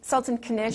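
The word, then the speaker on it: Sultan Knish: Sultan Kanish?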